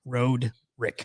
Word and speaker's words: Roderick: If you split it in half, RODE, Mhm. Road, Yes. and then Rick, Road, Rick.